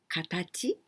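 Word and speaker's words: 形: And this one, here we pronounce gyo, but we can also say katachi, the form, or kata.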